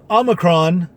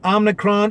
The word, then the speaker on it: omicron: just now handling uh omicron and many people are still mispronouncing it when they get into my car because i'm you know i'm still the rideshare driver and they're saying omnicron i'm nutrition i'm the